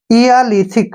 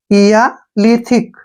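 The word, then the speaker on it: Eolithic: एच आई सी थिक इया लिथिक क्या पढ़ेंगे इया लिथिक ध्यान रखना आपने जहां भी इ ओ आएगा हमने उसका उच्चारण इ आ करना है ठीक है ना इया लिथिक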